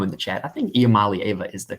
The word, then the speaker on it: Iamaleava: I think Iamaleava is the correct pronunciation though.